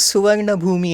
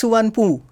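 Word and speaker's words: Suvarnabhumi: The name of Bangkok airport is Suvarna Bhumi Airport. Yeah. They say it's Suvarnpu. Yeah.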